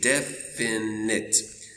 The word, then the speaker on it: definite: So this one, it makes the short I sound, I. So we say definite, definite, definite.